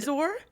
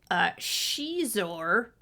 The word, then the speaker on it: Xizor: And Xizor? Right, that's what you would think. And it's Yeah. no, it's Shizor. Oh. The X is silent. But it's making a she sound.